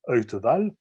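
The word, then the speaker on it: Wtewael: prononce son nom et wta whl ça se prononce heute balle alors lui c'est un cas un peu particulier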